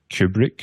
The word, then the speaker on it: Cuebric: Well, there's AI tools like Kubrick, which is spelled Cuebric.